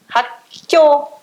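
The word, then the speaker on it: 학교: Ele vai fortalecer também. Hakyo. Vai manter ele aqui e vai fortalecer o próximo K. Vão ficar 3, né? Só que você vai pronunciar esse e depois esse mais forte.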